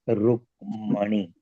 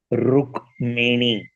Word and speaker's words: Rukmini: Some are pronouncing as Rukmani. ये गलत है, Rukmini.